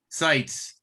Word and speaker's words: Seitz: And then Scott, your name is pronounced Scott Seitz. Sites.